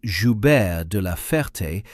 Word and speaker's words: Joubert de la Ferté: Air Chief Marshal Sir Philip Joubert de la Ferté, pronounced approximately Joubert de la Ferté, took command in June 1941.